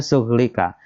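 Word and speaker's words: شُغْلِكَ: Sughlika, bacanya sughlika.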